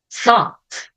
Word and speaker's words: though: parecidas como então aqui vou pronunciar o ou a letra o u como o thought thought aqui eu não tenho a letter t no final e veja como muda o som though though aqui fica thought aqui